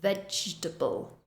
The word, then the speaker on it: vegetable: vegetable we don't say vegetable we reduce that middle syllable vegetable vegetable the next one temperature